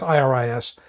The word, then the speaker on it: Iris: Because it's pronounced it's IRIS, but it's pronounced Iris.